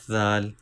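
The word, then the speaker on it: ذال: Let me explain you origin of zal by illustration. This is tip of tongue. These are front teeth. Start using tip of tongue by touching edge of front two teeth. From here we can pronounce zal.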